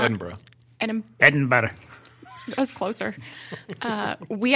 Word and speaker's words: Edinburgh: So let's talk about Edinburgh. Which people, you know, it looks like it's pronounced Edinburgh, but it's not.